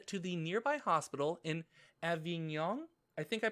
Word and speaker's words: Avignon: was taking taken to the nearby hospital in avignon i think i pronounced it avignon you sure did well done uh can i